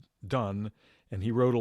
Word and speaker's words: Donne: don i was mentioning his names pronounced done and he wrote a